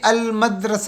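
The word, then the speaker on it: المدرسة: अल असद ठीक है मीम जो है मीम यह कमरी हरूफ में है इसलिए अल मदरस तो अलिफ लाम के साथ मिल रहा है लाम की आवाज निकल रही है सा सकून में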